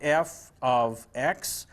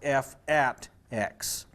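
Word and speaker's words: f(x): would be written as F ofx this is pronounced F ofx it's also sometimes pronounced F ATX the notation is designed to give you that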